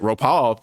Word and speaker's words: Ropal: don't know why it's so hard to pronounce it ropal like Cad and zam's sister did but it makes the